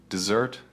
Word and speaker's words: dessert: Dessert, the sweet food, has the stress on the second syllable, dessert.